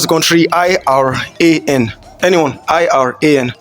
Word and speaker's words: Iran: Now, anyone knows how to pronounce the country Iran? Anyone? Iran.